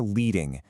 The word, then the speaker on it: leading: So this brings us to leading. And yes, that actually rhymes with bedding.